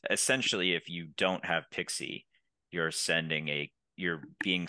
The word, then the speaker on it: PKCE: absolutely and so in the pixie flow which is spelled pkce and stands for proof key for code exchange um that's what we